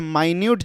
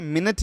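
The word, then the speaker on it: minute: या फिर टाइनी अच्छा माइन्यूट जो है यहां पे इसको हम लोग यहां प माइन्यूट बोलेंगे ओके मिनट नहीं बोलेंगे मिनट और माइन्यूट ओके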